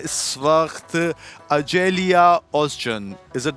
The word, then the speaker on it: Açelya Özcan: और मेरे साथ हैं इस वक्त azalea ओकचन। इज़ इट the right pronunciation of your name? यही ऐसे ही बोलते हैं इस नाम को? जी बिल्कुल, अजेलिया ओकचन।